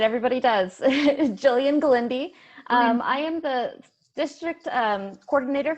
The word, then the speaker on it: Glende: I mispronounced your last name, didn't I? That's all right. Everybody does. Jillian Glende.